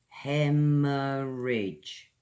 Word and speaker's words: hemorrhage: It's an adjective Okay, it means a great loss of something Hemorrhage heh· muh· ruhj as you know British English pronunciation Is all about the jaw the teeth